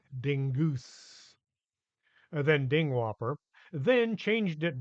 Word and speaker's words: Dingus: Madame Dingus, aka Angela Dingwhopper, had gone to school with Pam's folks, changing her name to Dingus, thinking it sounded more exotic, as she pronounced it Dingoose, then Dingwhopper, then changed it back once she had been eaten by the giant onion.